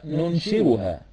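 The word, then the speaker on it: نُنشِرُهَا: And the same word, we can pronounce it in another way by saying nunshiruha.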